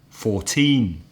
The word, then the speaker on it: fourteen: the stress usually usually the lower number the number in the teens for teen has the stress on the second syllable so it would be Dada 14 15 16 etc the